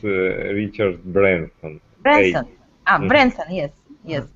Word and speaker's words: Branson: and his principles so do you know Richard Bronson Richard Bronson no no no yes ok maybe missional i know iroh here the usual pronounced Richard Branson hey I'm brensa yes yes Richard Branson here